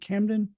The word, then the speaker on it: Camden: lives up in um can new C Camden New York something like that that's how you pronounce it they they he was